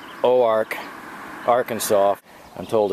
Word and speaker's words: Oark: I'm headed to what is pronounced Oark, Arkansas.